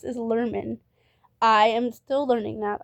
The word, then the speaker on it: Lerman: His name is pronounced as Lerman. I am still learning that. I thought it was Larman this whole time.